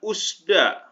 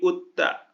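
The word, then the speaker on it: 웃다: kemudian ini juga sama bukan usda tapi utta ya dibacanya qot Mit ini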